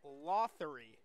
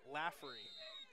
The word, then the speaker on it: Lothery: The Mad Dog research team has found out that it is Tori Viola Lothery, not Viola Laffery.